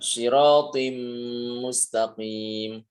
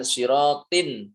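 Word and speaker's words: صراطا مستقيما: Contoh ya siratim mustaqim bukan siratin tapi siratim m langsung ke huruf mim.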